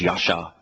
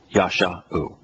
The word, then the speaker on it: Yeshua: And save here is Yeshua. I suspect I should pronounce that more correctly. It's Yasha. Yasha.